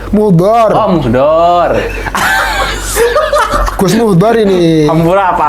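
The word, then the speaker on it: Muhdlor: KPK menahan Bupati Sidoarjo Ahmad Muhdior. Muhdor. Oh, Muhdor. Gus Muhdor ini. Hampura apa Ahmad? Gus Muhdor dia anak kiai besar tuh Gus Ya.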